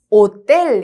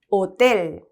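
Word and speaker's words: hotel: 읽어 볼까요 오텔 그렇죠 호텔이 아니라 오이고 지금 뭐 들으셔서 아셨겠지만 이때 여기에서이라고 하는 글자가 스페인어에서는 떼입니다 나중에 우리 뒤에서 나와요 그래서 쌍디귿 발음으로 읽혀요음 그래서 오텔 이게 이제 스페인어로 호텔이라는 뜻이에요 오텔 되시겠죠 아채가 없는 소리에요 무음입니다 그다음에 이제 우리 만날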